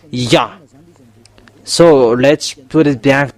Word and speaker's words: Yah: It's yod and hey it's called yah. That's why when we are uh come back to the original how to read yod and hey it's yah.